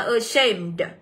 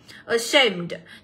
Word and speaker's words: ashamed: sẽ được đọc là ashamed. Ashamed. Thì âm đầu tiên nó cũng sẽ là âm ơ ngắn. Thì các bạn cũng sẽ nhấn vào âm đằng sau là âm A nhá.